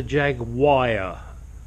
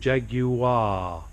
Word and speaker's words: Jaguar: look check you ah it's not a jagwire okay America learn it's called Jaguar which is why I have this plate so that you can learn how to pronounce it correctly the same as you